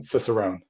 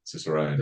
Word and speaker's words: Cicerone: I always pronounce this word wrong, Ciceronian, um, Cicerone.